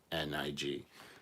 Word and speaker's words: Koenig: They spelled it Koenig, and it's actually Koenig, so it's Coenig. So they actually did spell it wrong there, which I'm sure they're going to point out here.